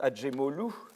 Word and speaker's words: Acemoglu: Et les auteurs, c'est Acemoglu, ça se prononce Acemoglu, voilà, Robinson et Verdier.